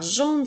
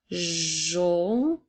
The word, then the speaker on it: jaune: Alors, jaune s'écrit avec la lettre J, A, U qui font le son O, N, E. Alors, jaune. Alors, jaune, comme dans la phrase « Sa banane est jaune ».